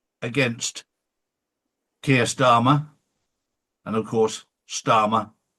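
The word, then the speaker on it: Starmer: And of course, Starma rhymes with karma.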